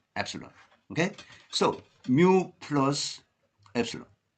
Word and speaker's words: epsilon: each mean plus Epsilon Epsilon is a Greek letter pronounced Epsilon okay so mu plus